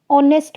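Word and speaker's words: honest: ऑनेस्ट मैन, लिखने में ह आ रहा है, एच आ रहा है,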